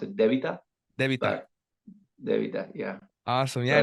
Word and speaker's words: Debita: I have two team members from the the beat up team uh correct me if I'm wrong if I'm actually pronouncing it right but it's an honor to